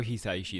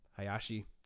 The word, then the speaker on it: Hisaishi: Ponyo is how do you pronounce his last name? Hayashi, Joe Hayashi. oh the composer? Hisaishi.